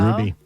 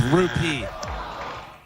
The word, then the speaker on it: rupee: Ruby. Oh, no. You said it wrong. It's rupee.